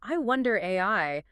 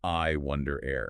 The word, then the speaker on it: iWondAIr: The guide explicitly states it should be pronounced I wonder air.